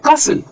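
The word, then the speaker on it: castle: तो ऐसा क्यों या ऐसा कोई वर्ड है कसल तो ऑब्जर्वेशन ये है कि जब किसी वर्ड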